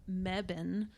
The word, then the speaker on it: Mebane: I stopped in Mebane, North Carolina.